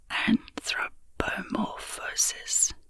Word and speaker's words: anthropomorphosis: This word is pronounced anthropomorphosis, with the stress on the fifth syllable.